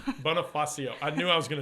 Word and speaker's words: Bonifacio: Well, anyway, so I asked to be on, pronounce your last name. Bonifacio. Bonifacio.